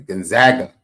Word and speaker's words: Gonzaga: Gonzaga.